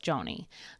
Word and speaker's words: Joni: In response to Jonathan and Suzy's growing concerns, I always say her name wrong. Joni? Joni.